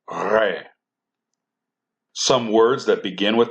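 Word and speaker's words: Resh: This letter is pronounced with an R sound, but more guttural. Re.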